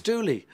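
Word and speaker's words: Dulli: yeah right greg dolly i always called him greg tully i once got a thing a letter saying you're pronouncing his name oh really it's dooley okay like no i called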